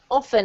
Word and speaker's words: often: Often, exactly. And actually, for some weird reason, you can say often. That's acceptable. You can choose your pronunciation for this.